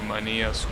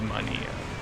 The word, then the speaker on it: Mania: close to mania's Quality I have to stop pronouncing it like that it's Mania it's not money and here's how you will pronounce it in Spanish in English I'm pretty sure it's Mania oh you're saying